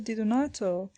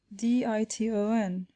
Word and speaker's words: Di Donato: and had begun thus, Diton, Diton. The professor at once pronounced the word more distinctly, Di-do-nato, whereupon the child, without